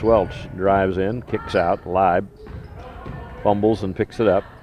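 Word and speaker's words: Laib: Rebound into the hands of Leib. L-A-I-B is the way her last name is spelled, pronounced L-I-B-E.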